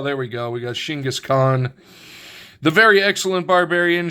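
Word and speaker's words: Genghis Khan: We got Shingis Khan, the very excellent barbarian. Shingaskhan, which is I believe how it's actually pronounced in Mongol in the Mongolian dialect, demonstrates his martial arts skills.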